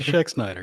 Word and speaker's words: Schexnayder: guest tonight is Brandon schexnider that's pretty good Jeremy thank you you're Shaq Snyder you're right hey I did okay you gotta remember the a is silent but oh kind of